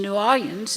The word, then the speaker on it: New Orleans: As Emily was saying, you can tell where somebody grew up by the way they say the name of our city. You know that my pronunciation, New Orleans, is just pure 11th Ward.